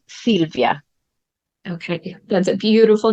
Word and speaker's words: Sylvia: problem at all but in Italy we would pronounce it Silvia okay that's a beautiful